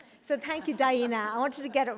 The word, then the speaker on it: Daena: Daena helped me pronounce her name by saying it rhymes with hyena. So thank you, Daena.